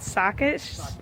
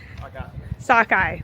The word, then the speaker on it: sockeye: Is it called socket? Socket. Sockeye, that's what it is. It's called sockeye because if you poke someone in the eye with your pointed finger, I just don't like the analogy.